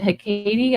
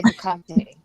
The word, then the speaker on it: Hekate: me her name, but to a 5-year-old, it sounds like someone sneezing when you say Hekate.